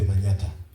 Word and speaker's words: Manyatta: It comes from the word Manhattan but we can't pronounce Manhattan because of our culture. So we say manata and um I am